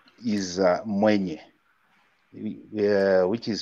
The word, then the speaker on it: Mwenye: My growing up name is Mwenye, which is spelled like M-W-E-N-Y-E.